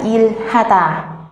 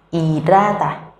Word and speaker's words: 일하다: Tuy nhiên trong tiếng Hàn, nếu như chữ il mà có chữ r dưới mà gặp chữ h ở trên, nhiều khi người Hàn sẽ đọc rất là nhanh, chữ h sẽ trở thành âm câm. Vì vậy các bạn có thể đọc cách thứ hai, đó là irata, irata.